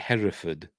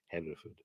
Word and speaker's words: Hereford: oh what's the word now um is it Hereford in the film Rule and then because it's a Hereford what color is the the shed at uh Hereford he says Haverford anyway let me mispronounces something in this as